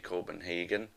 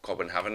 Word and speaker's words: Copenhagen: So Charlton actually bought him for £2.5 million from FC Copenhagen, or Copenhagen if you want to pronounce it correctly.